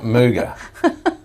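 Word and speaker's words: Muga: the first one yeah mooga it's spelled m-u-g-a um it was pretty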